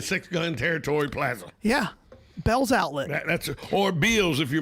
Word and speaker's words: Belle's: buddy paul really because he pronounces it the way it's spelled because we've always taught been taught an a after an e makes the e long it's not it's not untrue so in the in the in the in the world of english grammar it should be pronounced bills that's where you go and you really don't want to take your kids to the mall right but instead we call it bells but that's pretty cool